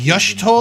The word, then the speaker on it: Y'shtola: The significance of Y'shtola's readings might Yush- better be understood Y'shtola? in the context of mine own. I've been saying it wrong this Taken whole at time. the It's instant of Y'shtola.